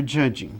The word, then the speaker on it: judging: Porque esse T, ele não é pronunciado, da mesma forma que esse D não é pronunciado. Ou seja, eu tenho uma série de palavras em inglês que tem letras mudas. No caso aqui, o T é mudo, você não pronuncia T.